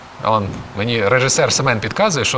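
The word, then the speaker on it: Å: в мене дроти тут читається як о буква а читається як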